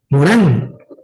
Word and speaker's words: Morin: Morán, Edgar Morin, ¿no? Morin se escribe, Morán se pronuncia.